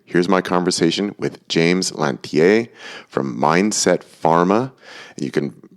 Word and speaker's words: Lanthier: Well, I pronounce it Lanthier, which gets it closer to the French pronunciation, but is not the sort of double-barreled Quebecois version.